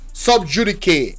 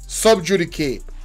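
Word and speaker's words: sub judice: subj thank you so much class prefect subj sub judicate that's how it's pronounced sub judicate so now basically what the man just say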